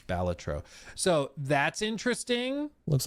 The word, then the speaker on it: Balatro: I always wanted to say Balatro, but apparently it's Balatro.